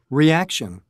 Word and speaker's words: reaction: okay the next one two reaction reaction it's the second the second syllable over the ac reaction okay three conversation conversations